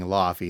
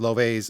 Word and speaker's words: Laufey: I've been saying Lafy and that is incorrect. Ly is how Google tells me to pronounce this. Brand new stuff from Lov.